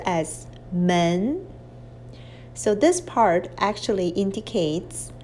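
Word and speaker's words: 门: now this is a character means door is pronounced as men so this part actually indicates the pronunciation of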